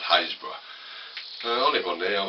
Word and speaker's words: Happisburgh: East Norfolk coast, between Winterton and Winterton and Haysborough. If you look at the name, it's called Happisburgh, but it's not. It's pronounced Haysborough.